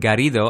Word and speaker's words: Garrido: You roll your R's, my friend. That's good. That's how it should be.